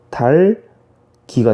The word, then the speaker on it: 닭이: 근데 닭 뒤에요. 닭 뒤에 이가 오면요. 어떻게 돼? 닭이가 아니고 달기가 됩니다. 달기. 역시 앞에 있는 기역이 뒤로 그대로 이어지면서 달기가 되는 거고요.